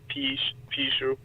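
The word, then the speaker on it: 貔貅: So Pishu, or that would be like the Wade Giles pronunciation. Pishu or Bikyu or Pihu. Pinyin would be Pishu. So there's kind of different intonations of it, but basically it's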